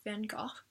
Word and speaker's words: van Gogh: out by saying that I'm going to be pronouncing van Gogh's name wrong technically it's supposed to be something like van Gogh but I know that I'm butchering it so I'm gonna say it the American Way Vincent van Gogh one